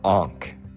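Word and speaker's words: ankh: what's considered to be the ank and that's how you say it it's spelled a n k h and I want to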